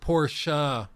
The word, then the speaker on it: Porsche: Well, it's pronounced Porsche.